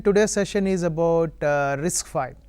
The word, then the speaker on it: RISC-V: of all it's pronounced risk five right a v symbol it's a Roman Roman v so it's number five risk five we'll get into history